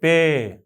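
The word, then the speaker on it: پے: পে পে আপনি খেয়াল করবেন আরবি যখন পড়তে যান আরবিতে কিন্তু পে নাই বা প ধ্বনি বলার মত বা উচ্চারণ করার মত কিন্তু কোন হরফ আরবিতে নেই কিন্তু এটা কিন্তু ঠিকই উর্দুতে আছে পে পে তো পে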